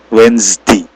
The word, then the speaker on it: Wednesday: Jadi ada Z, ada suara Z-nya ya. Jadi, Wednesday, Wednesday itu hari Rabu.